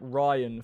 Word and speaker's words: Rian: Logan saying it's pronounced like Ryan for Rian.